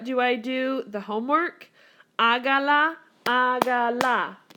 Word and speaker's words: hágala: Hágala, hágala. Here's my first vowel. Here's my second vowel. Accent on the third.